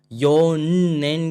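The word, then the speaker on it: 四年: अब आप लोग बोलोगे भैया यहां पर योननेन क्यों नहीं आया? तो योननेन यूज़ नहीं करते हैं। योनेन यूज़ करते हैं। ये एक्सेप्शन है।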